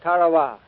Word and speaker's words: Tarawa: Ladies and gentlemen, there's a tiny island in the mid-Pacific called Tarawa. That pronunciation, incidentally, is from the National Geographic Society.